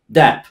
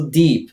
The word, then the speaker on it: Depp: Depp. Nie jest to Deep. W Polsce często słyszę ten błąd.